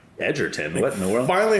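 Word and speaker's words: Egerton: Well, I just learned not too long ago that it's pronounced that way. I always said Agerton cuz it's got the two G's, but it's like Edgerton.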